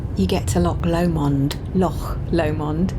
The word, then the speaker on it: Loch Lomond: get to Loch Lomond Loch Lomond if you're going to say it right there's James driving away